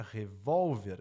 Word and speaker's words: revólver: o que era palavra revólver eu quero transferir a tônica daqui pra cá como é que eu transfiro a tônica daqui para cá assento revólver então por